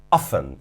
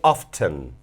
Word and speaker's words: often: Que sería el adverbio often o often. Tiene dos pronunciaciones dependiendo de la zona.